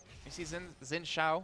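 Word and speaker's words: Xin Zhao: And then we see Xin Shao, which, Joe, I bet you're happy to find out that's how it's said correctly, because you always make fun of me with that.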